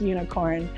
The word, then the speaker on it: Unikrn: the esports company unicorn spelt unicorn but i'm pretty sure it's pronounced unicorn now this is the